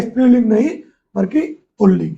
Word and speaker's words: पुल्लिंग: पुल्लिंग शब्द देखो उच्चारण में जरूर र निकलता है। आपको लगेगा लेकिन दोनों बार ल ही रहेगा। इसके आपको वर्तनी पे भी ध्यान देना है। पुल्लिंग लिखा जाता है। ठीक है? और कई बार उच्चारण में लगता है कि सामने वाले पुल्लिंग बोल रहे हैं और बोलते हैं पुल्लिंग तो वो न का उच्चारण र जैसा ही लगता है।